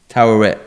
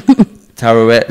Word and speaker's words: Taweret: Taweret. I don't know if you heard it. That's her name. Taweret.